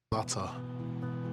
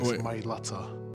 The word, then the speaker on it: Mailata: Mailata. That's the correct way to say it, guys. Mailata.